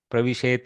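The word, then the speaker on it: प्रविशेत्: So, but perfect pronunciation will be Pravishet and finish it off. Like that's okay. Pravishet is fine because we want to accent the difference.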